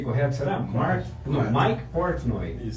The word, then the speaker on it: Mike Portnoy: Segunda pergunta que ele manda também, o Mike Portnoy, pronunciei correto, será? Não, Mike Portnoy, isso tá correto do Dream Theater,